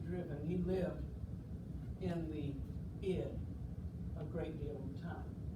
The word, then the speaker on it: id: mind the id and that's pronounced the id not the id the ego and the